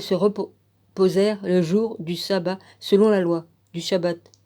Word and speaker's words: sabbat: shalom bah c'est shabbat mais normalement shabbat c'est S a a donc c'est sabbat là S a bb a T ou il va falloir que